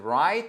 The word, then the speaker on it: write: Et d'ailleurs to write c'est exactement la même chose je vous le mets en phonétique que le mot right.